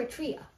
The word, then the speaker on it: Eritrea: see if you found there a tray on a map or you're a trio you prefer to pronounce it that way all right and this